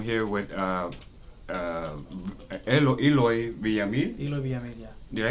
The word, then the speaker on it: Eloy Villamil: Eloy Villamil, yeah. Did I pronounce that?